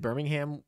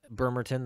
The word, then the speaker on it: Bremerton: I think I said Birmingham when I first saw it, but Bremerton, that's just a mispronunciation.